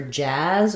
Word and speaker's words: jazz: The main difference here is just the vowel. So for jaws, we have vowel ah. And for jazz, we have vowel ah, like in cat.